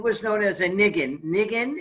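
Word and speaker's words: ניגון: Nigun is the Yiddish pronunciation of the Hebrew, nigun, right?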